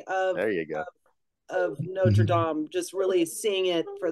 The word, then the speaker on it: Notre Dame: and you have Drowning, and then you have Notre Dame. Yep. Is that how you pronounce it? Notre Dame. Yeah, Notre Dame.